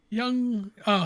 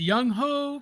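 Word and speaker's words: Younghoe: what young ho young oh sorry it's a young ho cool that sounds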